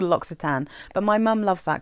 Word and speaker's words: L'Occitane: any of you um it's not called log Tain it's called logsitan I think but you'll have to